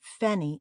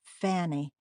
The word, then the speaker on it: Fanny: aspirate Harry she said if you call me fenny again it's war and pinching my name's Fanny and yours is Harry